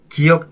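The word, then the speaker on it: 기역: consonants "ㄱ," "ㄷ," and "ㅅ" are pronounced as "giyeok," "digeut," and "siot." True or false? In South Korea, we call them "giyeok," "digeut," and "siot." Take "ㄴ," for example. We pronounce it as "nieun."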